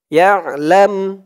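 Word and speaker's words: يعلم: ফি সুদুরিকুম আউ তুবদুহু ইয়ালাম ইয়া দিয়ে আইন ধরবে ইয়া আইনের উচ্চারণটা গলার ভেতর থেকে শক্ত হয়ে আসবে ইয়া লাম দিয়ে মিম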